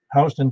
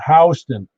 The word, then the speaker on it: Houston: He goes, it's Houston. I said, it's spelled Houston. He goes, to you. I go, well, why is it Houston? He goes, because that's a family name, and that's what they call it.